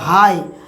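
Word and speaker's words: high: করব শুধু এইচ আর আই এটুকু অংশের তাই উচ্চারণ কি হচ্ছে হাই হাই মানে উচ্চ ঠিক এরকম আরো অজ ইংরেজি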